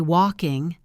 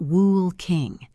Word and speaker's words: walking: We say walking, not wool king. Being aware of these silent letters will help you hear the boundaries between words.